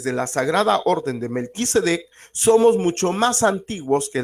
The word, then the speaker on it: Melquisedec: Se dice Melquisedec, pero se escribe Malquisedec, se lee Melquisedec.